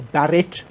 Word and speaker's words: Barrett: uh Thomas Barrett uh you might think I'm pronouncing Barrett strangely it's Barrett with an eye Thomas Barrett in 1782